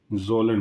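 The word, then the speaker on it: Kjølen: सबसे पहली हेडिंग डालिए जोलन माउंटेन्स। ठीक है, के साइलेंट होगा, जोलन माउंटेन्स।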